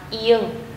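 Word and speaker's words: 이응: Đây là phụ âm Ng. Tên của nó là Ieng. Mình sẽ đọc là Ng, Ng.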